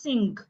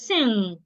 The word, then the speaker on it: sing: A lot of people pronounce this word as sing. It is not sing. It is sing.